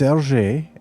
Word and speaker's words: Hergé: It looks like Hergé or something to me, Yeah, but how would you that's pronounce it interesting. correctly? It's it's Hergé, and what's interesting Hergé.